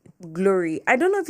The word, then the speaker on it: Glory: driver or something and I was like glory and then he was like Chloe and I'm like no glory as in glory to God as in G l.